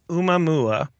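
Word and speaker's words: ʻOumuamua: I believe it's pronounced Umamua, and Umamua, it means thank you. U means to reach out for, and Mua is for first in advance of, and it's Hawaiian, as you mentioned.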